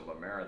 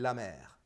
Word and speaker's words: la mer: La Mer and La Mer is two different things, and they pronounce the same way.